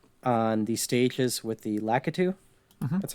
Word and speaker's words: Lakitu: And this bug is on the stages with the Lakitu. That's how you pronounce it, right?